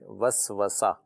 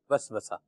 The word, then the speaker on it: وسوسہ: کیا فرمائیے گا اس کا صحیح تلفظ جو ہے وہ واو کی فتح کے ساتھ ہے، وسوسہ. وسوسہ صحیح.